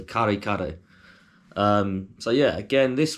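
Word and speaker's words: kare-kare: but number three or if you want to say in an English accent you probably say curry curry but it's spelled k-a-r-e then the same again so karikaru um so yeah again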